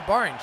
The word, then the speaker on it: Borange: And that is 6, and that boundary is brought to you by Borange. If you need something that rhymes with orange, you better make it Borange.